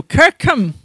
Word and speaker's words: Kirkcolm: that interpretation as does the modern local pronunciation which i've said is still kirkham so who is the